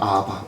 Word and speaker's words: 아바: 아바예요. 아바. 우리나라 발음하고도 비슷해요.